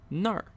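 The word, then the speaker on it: 哪儿: a really useful word that's pronounced Nar Nar and this is actually short for Nali Nali but it's more common to say just Nar and this r ending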